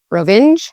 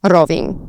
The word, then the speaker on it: Rovinj: And so it's not even like a single letter at the end, it's actually Nj at the end. So Rovinj. And you'd put the emphasis again more on the beginning of the word than on the end of the word.